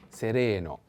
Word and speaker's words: sereno: chelo sereno and sereno i have to put the accent on the second e sereno sereno means clear serene